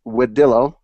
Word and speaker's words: Wedillo: That's how you say it, Wedillo. That's correct.